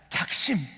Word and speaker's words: 작심: 일이 우리 가운데 있습니다 작식 자식이 아닙니다 작심 예 발음이 작심 3일 되지 마시고 아멘